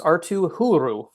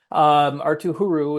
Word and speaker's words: Arttu Huru: in free agency, and it's pronounced Arttu Huru. That's how it's pronounced. Arttu Huru is going to probably be in the mix to make the roster out of camp.